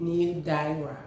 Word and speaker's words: Nildaira: So it's New, like new, N-E-W, Yes. new, and then Daira, like D-I-Y, excuse me, D-I-H, and then R-A-H, new. Nildaira.